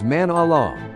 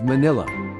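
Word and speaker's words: Manali: Our destination was Manala, not pronounced Manila.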